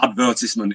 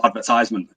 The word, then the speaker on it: advertisement: things to me is when people say advertisement instead of advertisement oh my god why would you say it like that it's advertising something therefore it's an advertisement why would people say